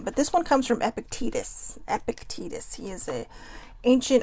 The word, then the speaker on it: Epictetus: 24 of gratitude and i did look up the name if this comes from epictetus epictetus so i was saying it right the whole time but um lately because